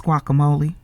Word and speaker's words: guacamole: that uh gule what What's gule when it's guacamole mhm asking stuff like uh what's a a quidilla when it's pronounced quesadilla or a tortilla when it's a tortilla mhm and see here's